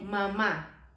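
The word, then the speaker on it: mamá: So when you see an accent on a vowel, that is because your pronunciation need to be stronger on that vowel. So like mama, you need to say mama. It's not mama, it's mama, which is mom.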